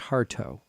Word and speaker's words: Hartough: But it's pronounced Hartough.